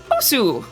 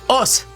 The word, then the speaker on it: Osu: There's no reason you should know this, but I believe you don't pronounce the U. I think it's just us.